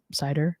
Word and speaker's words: CIDR: specified using a classless inter domain routing or cider right cidr i think you pronounce it cider right or cidr i call i've always said